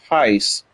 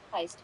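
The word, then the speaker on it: Hyce: I'll definitely give Heist Heist's railroader content a watch. Uh, it's not like the like the bank robbing heist. It's it's like it's it's spelled H Y C E Gotcha.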